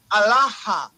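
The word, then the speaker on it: ܐܠܗܐ: you want to say my God it's not Allah it's allaha that's how you say my God now what what what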